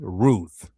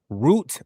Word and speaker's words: Ruth: Ruth R sound R oo double O sound the ooh sound and then they have the T root or root it's not